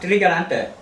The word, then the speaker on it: Trigarante: Vianna, it's pronounced trigarante.